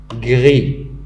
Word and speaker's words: gris: Gris, la même chose, il se termine par S, mais on n'entend pas en le prononçant.